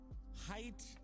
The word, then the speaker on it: Haidt: Because, by the way, you know, Jonathan Haidt, I believe the last name is pronounced that way, just wrote a book that